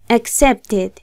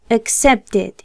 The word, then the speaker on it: accepted: Así ustedes se darán cuenta que la ED del pasado de aceptar se pronunciará como una ed. Ed. Entonces sería de este modo. Accepted. Accepted.